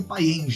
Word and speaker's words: Payen: Eu acho que é Payen, né? Ou Payan. Se escreve Payens, né? Mas provavelmente é francês, já a tradução a tradução não. É só fazer com o biquinho que vai sair certo.